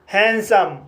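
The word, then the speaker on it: handsome: जैसे हैंडसम, हैंडसम word में पहला सिलेबल एन डी से समाप्त हुआ है और दूसरा सिलेबल कंसोनेंट एस से शुरू हुआ है, इसलिए डी साइलेंट रहेगा, इसलिए इसे हैंडसम पढ़ा जाता है।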